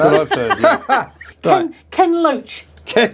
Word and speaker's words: Loach: Ken Loach. Ken Loach. He's a great character, is Ken Loach, isn't he? Which rhymes with roach.